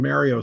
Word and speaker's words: Mario: And technically Rex from Lego Movie 2, because that's You know also it's pronounced Mario because he says it's a me, Mario.